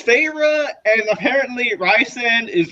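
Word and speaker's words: Feyre: I was like okay so I knew it was farra but I was like is it Farah or is it farra I was saying far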